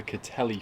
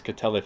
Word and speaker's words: Kattelhi: It has an abundance of tiger sharks here, which is another big tourist attraction, and a fish called the Kattelhi fish. It's spelled K-A-T-T-E-L-H-I.